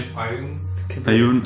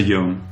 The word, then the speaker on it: Ioun: You say iron stones, you say Ayun, I say Yon.